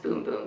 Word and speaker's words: Bum Bum: boom boom cream so it looks like Brazilian bum bum cream which is for your bum bum and the rest of your bod but it's actually pronounced boom boom so this is infused